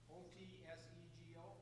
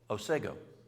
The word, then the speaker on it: Otsego: How do you pronounce Otsego? Otsego? O-T-S-E-G-O? Yes? Otsego.